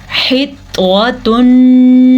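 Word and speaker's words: حِطَّةٌ: وقولو، دونوں واو مدہ ادا کرنے ہیں۔ حطوۃ نغفر لکم، توا کو پر پڑھیں گے، توا ہمیشہ ہی پر پڑھا جاتا ہے۔ ہا کے مخرج کو انہینس کریں آپ، حطوۃ، حطوۃ نغفر لکم، یہاں پہ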